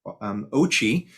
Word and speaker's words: OCCHE: out next week and it's our ochi as we pronounce our acronym ocche outlook the ochi outlook for heat so next